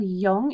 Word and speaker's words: Jung: and their theories is Carl Jung so Carl Jung is how you pronounce that last name and then I've also